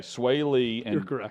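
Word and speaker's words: Swae Lee: for however i say his name is it sway lee okay sway lee diplo they did this performance of of tupelo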